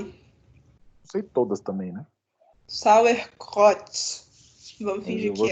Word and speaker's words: Sauerkraut: O outro é muito fácil de pronunciar, a única coisa é que o R é pigarreado, então é Sauerkraut.